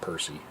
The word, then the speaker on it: Eperce: And in this instance, the YouTuber that I'm talking about is Eperce, Eperce, but it's pronounced Percy.